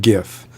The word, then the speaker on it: GIF: look it up right the creator of the format purposely named it gif after the peanut butter company but you know but